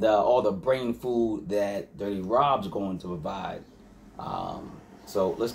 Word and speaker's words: Durty Rob: We're going to New York, to go visit Durty Rob. Sounds like I gotta say it like an idiot. Durty Rob, man. Like Durty Rob, the way you spell it, man.